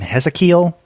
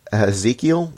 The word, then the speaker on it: Hezekiel: I was thinking Ezekiel, kind of more of a okay, like a Jewish, historically Jewish name. Yeah, I mean that would make sense. We don't have a Z though; it's an S. Hezekiel.